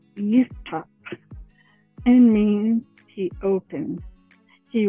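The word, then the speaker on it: יפתח: Jephthah in Hebrew is pronounced as Yiftach and means he opens.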